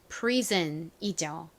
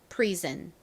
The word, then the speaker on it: prison: 감옥이라는 의미의 prison이죠. prison. 여기서도 SON이 든 소리로 쓰였어요.